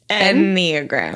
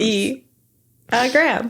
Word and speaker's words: Enneagram: Well, I feel like a lot of the demonic aspect of Enneagrams was... First, we're going to stop and practice saying it. N-E-E-agram. Enneagrams. Enneagrams. E-agram.